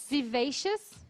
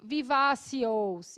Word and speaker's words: vivacious: Mas para a gente saber que a gente não fala ios, vivacios, espacios. Não, yes. Tem um som de A, esse O, o S em inglês. Em geral, som de IAS. Obvious, spacious, vivacious. Tem mais som de A do que de OU, ok?